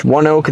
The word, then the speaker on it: ONEOK: Pronounced ONEOK, the stadium opened in 2010, now has a capacity of 7,800 people.